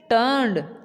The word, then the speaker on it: turned: इसमें आर बेटा आ रहा है लेकिन आर की जो आवाज़ है वो ना होने के बराबर होगी, जैसे कि बिल्कुल साइलेंट भी नहीं होता, बोलना है लेकिन आपने बिल्कुल हल्की सी आवाज़ लेनी है इसकी।